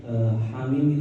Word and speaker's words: حم: Hamim itu termasuk huruf-huruf yang muqatta'ah. Muqatta'ah itu artinya terpisah-pisah. Jadi cara bacanya itu hamim dipisah-pisah seperti itu.